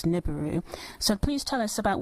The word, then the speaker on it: Nibiru: well I guess NIU if we were to use the English dialect I guess the sounds phonetically would come up as niburu so please tell us